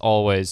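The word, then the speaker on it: Alvvays: w a YS and it's just um it's pronounced always sort of like the which is just pronounced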